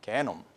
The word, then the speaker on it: genome: In Korean, it's a little bit bad word, genome. Okay? It's a bad word. This is how we pronounce it, okay?